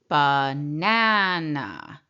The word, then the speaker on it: banana: So the first a is a schwa sound. We hear a ba. And then we hear the a sound in the second syllable. Ba. And then we hear an uh again in the final syllable. Uh banana. So the schwa sound is really that distorted sound.